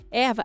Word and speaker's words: ierba: Porém, na América do Sul, a ierba, pronunciado erva, é uma espécie única.